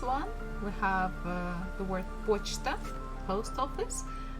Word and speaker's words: почта: And the last one we have the word почта, post office, and here stress falls on O, that's why we have pronounced it as it is.